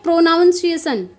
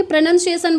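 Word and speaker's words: pronunciation: आप जानते हैं अब प्रोनंसिएशन को कुछ लोग क्या बोलते हैं प्रोनाउंस एशन अब अगर एज अ टीचर आप उस चीज को प्रोनाउंस एशन बोलेंगे तो बच्चे भी वैसा ही सीखेंगे तो सबसे पहले टीचर को नॉलेज लेनी होती है उसके बाद वह बच्चों को देंगे तो तो आपको पता होना चाहिए उसको प्रोनाउंस नहीं बोला जाता बल्कि प्रोनंसिएशन बोला जाता है तो इस तरीके से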